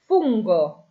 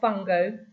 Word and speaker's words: fungo: Fungo, not funo. Fungo is mushroom.